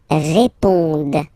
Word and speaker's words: répondent: Ils répondent. So same thing, here classic ending, ENT, but then you don't pronounce it.